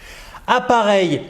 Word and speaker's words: appareil: Appareil. Donc là, regarde, il y a deux P. هنا يوجد اثنان P. كلما ترى اثنين كونسون متتابعين في وسط الكلمة لا تقلق. أنطق فقط واحد.